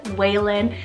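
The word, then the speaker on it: Waylan: Valen for w I have Waylon spell w-a-y-l-a-n Whalen this one means roadside I really love the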